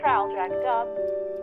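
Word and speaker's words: Traldragdubh: and my retinue to trowel dragged up or trill drug drive for it is pronounced both ways as near as i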